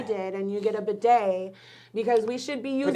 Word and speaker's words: bidet: You do what I did, and you get a bidet because we should be using Bidets are them wonderful.